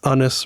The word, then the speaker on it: Anis: It's Anis rhymes with hummus.